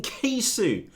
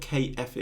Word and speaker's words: K-Fu: We'll be meeting Keifu today, not KF, and it's spelled KFU. Yeah, those of you with potty mouths may pronounce that slightly differently.